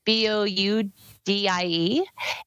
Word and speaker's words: Boudie: And Boudie is spelled like boudoir. So it's Boudie.